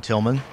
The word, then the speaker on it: Tilghman: certainly contact me at tucson electric power tillman last name is spelled t-i-l-g-h-m-a-n you can email me at tucson